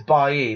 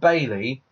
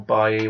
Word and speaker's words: Bailly: I think it's Bailly, because it's not Bailey.